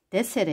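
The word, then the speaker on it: di essere: 근데 디 에세레 이거는 데세레 이렇게 발음을 되거든.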